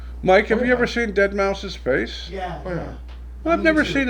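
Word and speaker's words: deadmau5: guy he takes the name dead mouse pronounced you know Dead Mouse cuz it's spelled really weird and uh his chat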